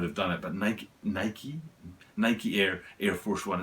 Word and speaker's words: Nike: air force one and i say night because i'm from the uk and that's how we pronounce it i know other people